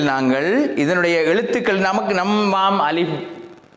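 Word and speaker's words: ألف: உண்மையிலே இந்த எழுத்து அலிஃப் என்று உச்சரிப்பதை விட அலிஃப், இந்த எழுத்தினுடைய உச்சரிப்பு முறை அலிஃப். அலிஃப் புல அப்படி உச்சரிப்பதல்ல, அலிஃப் என்று சொல்லக்கூடாது. அலிஃப், ஏ இல்லை, ஏயும் இல்லை, ஆவும் இல்லை, 2க்கு நடுவால அலிஃப்.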